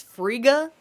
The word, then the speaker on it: Frigga: of saying her name because of the thick G. It's Frigga. I have to do this whole in my throat to say her name.